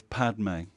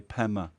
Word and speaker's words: Padme: The Sanskrit is Padme. When the Tibetans are trying to say Padme, they can't, so they say Pema.